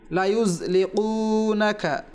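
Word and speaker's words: لَيُزْلِقُونَكَ: বিআবসারিহিম লায়ুযলিকুনাকা বিআবসারিহিম লায়ুযলিকুনাকা, এখানে ইয়ার পরে যা রয়েছে, এখানে যেন আমাদের জাল উচ্চারণ না হয়, লায়ুজ জিমও যেন না হয়, আবার জালও যেন না হয়, লায়ুযলিকু অথবা লায়ুযলিকু, এখানে হরফটি যা রয়েছে খুব মনোযোগ সহকারে শুনতে হবে এবং পাঠ করতে হবে।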